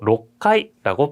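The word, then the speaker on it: 六階: 6階라고 하지 마시고 6階라고 발음을 합니다. 6階. 6 플러스 카이. 그래서 6階가 되는 거예요.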